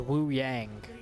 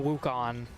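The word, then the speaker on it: Wuyang: I was mispronouncing one of the heroes names. His name is Wu Yang. Woo Yang. Yep. What were you saying? I was saying Wukan.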